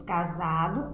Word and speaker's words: casado: Escrevemos casado com S e na hora de pronunciar a palavra, lá o seu som sai com Z. Casado.